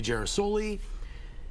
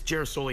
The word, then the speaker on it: Girasole: going to be and we decided it should be Jer soy and then they wanted to say jera soy and she's screaming and yelling it should be spelled with an e no we should help with an i because that's you know anyways it's Jer soy now g i r a